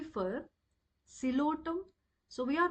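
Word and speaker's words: Psilotum: for equisetum P for cotum so we are not going to pronounce the word like the pilum so p is silent over here we pronounce it as a cotum and a for Ed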